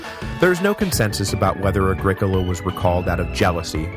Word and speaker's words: Agricola: for the pronunciation correction it is Agricola not Agricola which yeah I agree sounds like some kind of terrible hippie soda so I'm sorry about